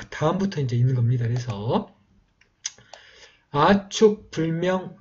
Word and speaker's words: 아축: 그리고 그러면 이제 초가 되든지 아니면 이제 축 이렇게 축 발음 아니면은 툭 발음으로 된다고 보시면 되겠고요. 이 번, 아축, 이 비라고 되어 있습니다.